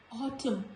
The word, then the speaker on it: autumn: Letter N is usually silent when it comes after M. Otherwise also letter N comes after M in the series of alphabet. Here also when letter N comes after letter M, it is silent, like autumn, not autumn,